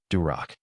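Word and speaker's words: дурак: Are you the durac?" rhymes with Barack and means fool.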